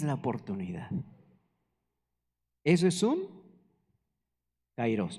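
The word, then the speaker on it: καιρός: por ejemplo nos vamos cairos o ciros ahí tiene acento en la o cairos ocasión tiempo fijo tiempo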